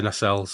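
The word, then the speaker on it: nacelle: I would say Nassels. Americans say Nel sometimes. Nasels. That's coming from French. So I think Nasel.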